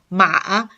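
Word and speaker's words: 马: And then if you pronounce the third tone, ma, it means the horse.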